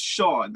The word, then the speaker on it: Hsiang: it's just Sean. This is the thing Sure. that trips everyone over. It's just Sean. It's a lot easier than it looks.